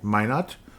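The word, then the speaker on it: Minott: Leonard Miller finally got out there, played 2 minutes and 19 seconds along with Josh Minot.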